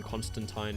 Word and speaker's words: Constantine: Though there was a little jab during the Crisis on Infinite Earths special in the Arrowverse, wherein Lucifer pronounced it John Constantine and John corrects him and says it's Constantine, and I think Lucifer replies, "Is it?